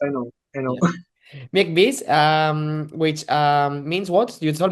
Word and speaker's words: Miegħek Biss: Miegħek Biss, which means what? You told me before, but I forgot already. So, Miegħek Biss, first of all, I can explain.